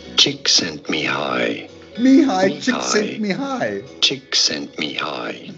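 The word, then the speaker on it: Csíkszentmihályi: Csikszentmihalyi. Csikszentmihalyi.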